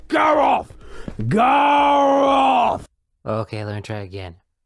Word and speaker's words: Garroth: it's pronounced gar off go okay Larry try again gear